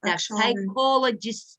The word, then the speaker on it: psychologists: Psychologists, psychologists произносится слово.